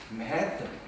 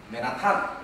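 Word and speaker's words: Manhattan: 우리가 옆에 사는 맨해튼, 이렇게 해서 맨해의 액센트를 줘야지 맨하탄, 우리 한국 사람 얘기하면 맨하탄 뭐 이러면 이 사람들 못 알아들어요. 맨해튼.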